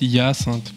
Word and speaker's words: Hyacinthe: Et on le prononce Hyacinthe. Hyacinthe.